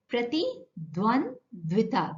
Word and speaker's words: प्रतिद्वंद्विता: प्रतिद्वंद्विता, this is how you pronounce it. It's a bit difficult, but twice or thrice if you practice, you'll learn it.